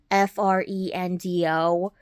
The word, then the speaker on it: Frendo: And they dress up like the town's mascot named Friendo. And I don't know how that's how you say his name or not. It's Frendo.